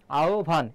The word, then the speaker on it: আহ্বান: উচ্চারণটা পরীক্ষায় আসতে পারে মনে রাখবে হ এর স্থলে ও বা রস যেকোন একটা হবে আর ব এর স্থলে কি হবে ব হবে আহবান এখানে রস্য হতে পারে আওভান এটি হবে নুরদ্দিন একদিন